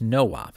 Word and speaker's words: NOP: instruction that does nothing nop which is generally pronounced no op because it stands for no operation is the z80 instruction